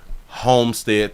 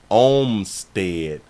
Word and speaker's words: Olmstead: No, I thought that they said Homestead too, but it's Olmstead.